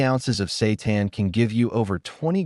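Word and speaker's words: seitan: Satan, pronounced Satan, it's sometimes called wheat meat because it's made from wheat gluten.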